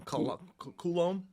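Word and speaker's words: Coulombe: Danny, I always get the last name wrong. Koulom.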